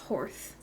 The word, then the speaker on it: Horth: there whose name is Horth, Horth. And I just wanted to rehash how giddy it makes me that there's a stable master whose name sounds like the word horse if you have a lisp.